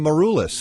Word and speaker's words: Maroulis: well I might add in the show Constantine maruis I'm pronouncing that properly yes beautiful thank you Jonathan